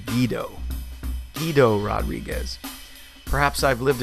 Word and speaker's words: Guido: Actually, it's pronounced Guido.